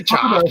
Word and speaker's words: chalk: there's no L in chalk. Is this a With- thing? Well, he clearly types an L, but that's fine. I'll say chalk from now on.